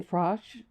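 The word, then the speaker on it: Frosh: Attorney General Brian Frosch, did I mispronounce his name?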